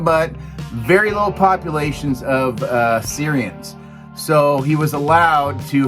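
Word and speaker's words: Cerean: what I can remember, he is a Syrian, I think that's how you pronounce it, C-E-R-E-A-N, Syrian male.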